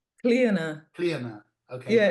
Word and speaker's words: Clíona: It's Gaelic, so it's clear now. The stress is on the eye.